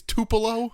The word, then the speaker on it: Tupelo: 24th 1996 from I how how do you pronounce the city it's Tupelo Tupelo Tupelo Mississippi of Elvis Fame yes and